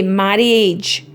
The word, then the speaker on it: marriage: That A is silent when you're talking. You don't say marriage because it's too difficult to say.